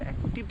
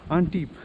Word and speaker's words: Antibes: It's good place to be when you are in Antibes. It's not Antibes actually. The pronunciation in French is actually Antibes.